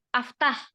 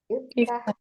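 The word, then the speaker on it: افتح: Terus kemudian kalau fataha yaftahu, harusnya kan aftah, ya. Ini bacanya apa? Dibacanya Iftah. iftah, kasroh. Apa namanya alifnya? Alifnya dibaca kasroh.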